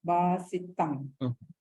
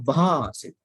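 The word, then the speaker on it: bhāsitaṃ: Athopi sakkacha sunantu bhasit. Bha. There should be that aspirate that should come out of your mouth. Bha, not basita.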